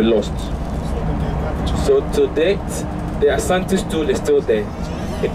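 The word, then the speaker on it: Asante: So the pronunciation Ashanti is European. Yes, the British. So even that spelling, the SH, mm-hmm. is European. It's European. So proper word is Ashanti. S-A-N-T-E. Yeah, N-T-E.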